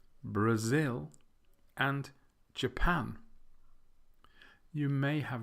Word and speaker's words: Brazil: to the first syllable we will change from Brazil to brasil' brasil' I think it's funny isn't